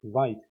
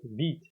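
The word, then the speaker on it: Vite: than something like npx the word vit I think it is better to pronounce this as vit not what I don't know really but I prefer to you know pronounce this as vit.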